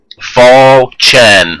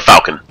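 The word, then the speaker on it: falchion: drop a fon and is pronounced F chin obobo fall Chen I know you can say it it's not a falcon but he's an Oba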